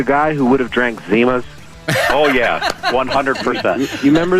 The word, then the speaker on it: Zimas: Zimas.